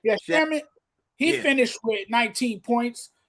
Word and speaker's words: Shamet: Shaman, how you say his name? I always have trouble saying his name. Shamet.